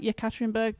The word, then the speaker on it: Yekaterinburg: And you're there in Yekaterinburg, as you pronounce it. Is that right? Yekaterinburg, Russia.